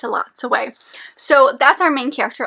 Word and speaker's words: Elatsoe: month of January was Elatsoe by Darcy Little Badger. Yes, I said it wrong. Most times I mentioned it before, but according to the audiobook and even in the book, it's Elatsoe.